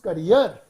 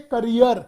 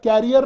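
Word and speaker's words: career: अच्छा एक चीज और बताऊं बच्चों, इसकी राइट प्रोनाउंसिएशन होती है करियर, कैरियर नहीं, करियर। कुछ लोग इसे बोलते हैं कैरियर।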